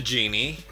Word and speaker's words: Djinni: people have reviewed the genie i hear that the d is silent but i'm still going to call her degenie and oh her box